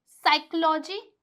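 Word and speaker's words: psychology: यहां पे साइकोलॉजी। यहां पे साइको। तो इस इन सभी जगह क्या है? जो हमारा पी है वो साइलेंट है।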